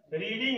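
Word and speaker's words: read: जो है रीडिंग है, तो रीडिंग का फर्स्ट फॉर्म रीड होता है और इसका थर्ड फॉर्म जो है रीड रेड रेड, तो रेड हो जाएगा, स्पेलिंग वही रहेगा आर ई ए D, spelling वही, पढ़ने का तरीका थोड़ा भिन्न होता है।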